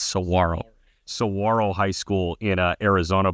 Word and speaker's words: Saguaro: Arizona also I learned because of the cactus g is silent so it's not Saguaro it's Saro Saro High School in